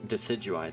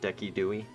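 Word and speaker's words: Decidueye: Because some people jokingly pronounce it Deki Dewey.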